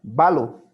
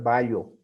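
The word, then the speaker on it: βάλλω: Cuando tú veas doble L, doble lambda, ¿no? Doble lambda, debes pronunciar como si hubiera una sola lambda. Balo. No puedes pronunciar ballo, sino es balo.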